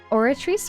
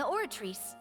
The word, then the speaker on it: Oratrice: Okay, it is a soft C. I'm trying to remember that. The Oratrice will too?